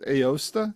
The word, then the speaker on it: Aosta: Up in uh if I if I remember right, I think it's pronounced Aosta.